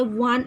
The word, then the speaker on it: one: Here each word starts with the letter O. O is a vowel letter but its sound is va. Va is a vowel sound. So there you have to, va is a consonant sound.